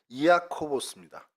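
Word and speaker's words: Ἰάκωβος: 그러니까 정확히 얘기하면은 이아코보스입니다. 그 헬라어로는. 그래서 야곱을 헬라어로 발음하다 보니 이아코보스가 됐죠.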